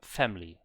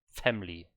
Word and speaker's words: family: not everyone but family some people say family family so the e after the m is silent as well so yeah there are